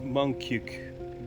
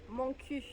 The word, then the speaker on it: Montcuq: The thing about this town is that there's a debate in between the French of whether to pronounce the last Q on the name. How do you pronounce it? Montcuq. Montcuq.